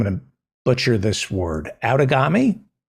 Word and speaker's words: Outagamie: to butcher this word, Outagamie? Close. It's Outagamie. And actually, the phonetic pronunciation is supposed to be Outagamie. But this is Wisconsin. We like our long A's. So Outagamie.